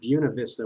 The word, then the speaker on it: Buena Vista: It's they say Salida locally, and Buena Vista, which is the most perverse twisting of a Spanish word I've ever heard.